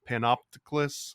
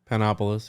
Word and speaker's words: Panopolis: about your uh your homeboy zosimos of panop panopticus I can't always pronounce it panopolis yeah so uh this this picture that I'm